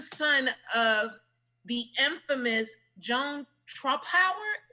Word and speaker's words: Trumpauer: of the infamous Joan Trumpauer. Did I say her name right? You did.